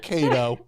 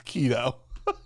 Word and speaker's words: keto: keto is always popular my wife always misses pronounces it kato like every other day it's not kato it's keto all right it's been